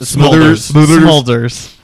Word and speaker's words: Smulders: Is it Smulders? Smulders. Yeah. Pronounce it like it sounded.